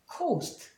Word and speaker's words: coast: 여기도 마찬가지로 이렇게 있으면 coast.